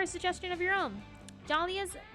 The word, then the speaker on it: Dahlia: suggestion of your own dahlia's most most mysterious and alluring trait is the silent h in her name start playing off silent